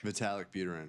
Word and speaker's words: Vitalik Buterin: Vitalik Buterin. Yes, Yeah. okay, I didn't know quite how you emphasized what syllables, but we had him on the show back in the day.